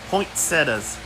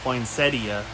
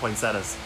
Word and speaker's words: poinsettia: Poinsettas. That's right. People get mad at me because I don't say the I in poinsettia. A lot of people really like to pronounce that I poinsettia, but no, I just call them poinsettas.